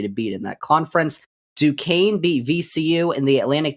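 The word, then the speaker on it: Duquesne: the 11th seed is Duane by the way du qu s NE e it's duain is how you say that University's name I have learned recently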